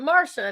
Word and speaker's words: Marcia: spell it Marcia, but we're going to pronounce it Marsha and make everyone confused."